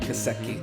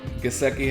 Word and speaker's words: Gesicki: Gesicki.